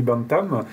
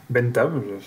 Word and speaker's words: Bentham: fait c'est un philosophe du 18e siècle Jérémy bantham Bentham bien le prononcer donc Jérémie Benten en fait à réfléchi